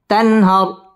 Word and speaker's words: تنهر: تانون زبر تن، هارا زبر هر، تنهر.